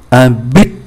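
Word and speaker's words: un but: không được phát âm, ngoại trừ một từ ambit. Ambit là mục đích, B-U-T thì phát âm T. Ambit ở trên không phát âm, ở dưới phải phát âm, đó là trường hợp ngoại lệ.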